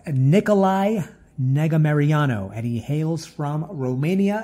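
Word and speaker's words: Nicolae Negumereanu: the auto belongs to nicolay I don't even know how to pronounce that but you know what I'm going to learn how to pronounce that his name is pronounced Nikolai negga Mariano and he hails from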